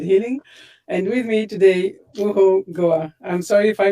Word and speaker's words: Ohouo Goa: And with me today, Ohouo Goa. I'm sorry if I mispronounced your name. I hope it was okay. It was almost there, but it's okay. It's Ohouo Goa.